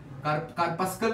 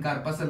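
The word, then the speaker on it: corpuscle: मैं यहां पर रीनल कार्पसल लिख देता हूं, रीनल कार्पसल, कार्पस्कल भी पढ़ते हैं लेकिन कार्पसल होता है, आई थिंक जो करेक्ट इसकी प्रोनाउंसिएशन है वो है रीनल कार्पसल।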